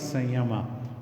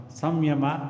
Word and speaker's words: samyama: that is what is sayama samyama is the actual pronunciation is all right so